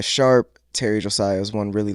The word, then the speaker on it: Sharpe: But last name is Sharp, very simple to the point.